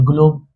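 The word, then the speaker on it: globe: अब कैसे इसे ग्लोब पढ़ेंगे? जी एल ओ बी ई जी एल का उच्चारण ग्ल से। जी एल का उच्चारण ग्ल से। और ओ का उच्चारण अ से होता है। बिल्कुल होता है। अ से और बी का उच्चारण ब से होता है। एकदम होता है। लेकिन यहां लास्ट में क्या है? इ है। लास्ट में क्या है? इ है तो इ क्या करता है? इ वाला मैजिक रूल पढ़े थे ना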